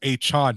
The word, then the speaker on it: Achane: I think it's Achane now. So now they bring Achane. And then they have Achane, like Jackie Chan.